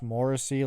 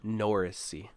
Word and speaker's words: Morrissey: healers as well Josh Morrissey like this is a very good team this year and you said his name wrong by the way it's Josh norrisi this year but yeah and